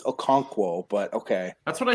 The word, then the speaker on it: Okonkwo: to like read English which you can't it's Okonkwo but okay that's what I said probably not even pronounced rewind the tape rewind the TV you